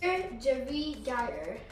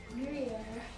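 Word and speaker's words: Gruyère: Gerigeyer. No, how to pronounce it.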